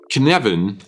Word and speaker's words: Cynefin: Canvan is a Welsh word and this is exactly how you pronounce it.